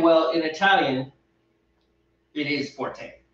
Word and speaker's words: forte: many people use that incorrectly really it's not forte it's fort actually fort forked you don't pronounce the a like in the french style